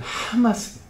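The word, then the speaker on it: חמס: 히브리어로 카마스라는 말이 있어요. 카마스. 이것을 좋게 발음하면은 하마스예요.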